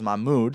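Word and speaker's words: Mohamoud: hate this guy's name he doesn't pronounce a Mohammed he pronounces Mahmoud so Mahmoud diabate uh linebacker 12.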